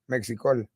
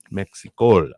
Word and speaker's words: Mexicol: actually uh pronounce that mexico mexico okay yeah so you really put an emphasis on that l for the colombian part of it yes and as you